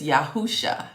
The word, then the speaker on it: Yahusha: His actual name is Yahusha. It's spelled Y-A-H-U-S-H-A. Yahusha. Say that with me.